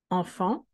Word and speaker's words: enfant: Enfant. We should separate between the N and the T. The T cannot be alone because it doesn't have a vowel. We're going to join it and drop the T.